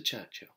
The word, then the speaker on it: Churchill: he invites himself to Churchill Churchill that's how you say it all together like that Churchill oh well that explains